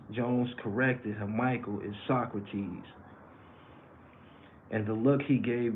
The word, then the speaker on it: Socrates: passages Jackson answered Socrates but pronoun but but pronounced it so Socrates Jones corrected him Michael is Socrates and the look he gave me then it